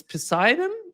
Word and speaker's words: Poseidon: the latest news about the Burevestnik missile, the new, Yeah, nuclear powered, and the other one is Poseidon. If yeah. I don't know if I'm pronouncing it correctly.